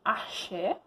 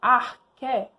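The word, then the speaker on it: ἀρχή: A gente tem que lembrar de uma palavrinha que vocês falam que é arché, mas se pronuncia corretamente, arché. Essa aqui que está aparecendo. A arqué, ela é a substância primordial.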